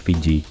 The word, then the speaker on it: Fiji: ini disebut Fiti levu nama Fiji berasal dari pengucapan Tonga dari kata Fiti orang Tonga yang memiliki